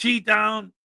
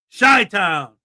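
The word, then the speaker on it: Chi-Town: No, it's not Chi Town. Not Chai Town. It's Shy Town. Like sh Y, but it's CI. Shy Town.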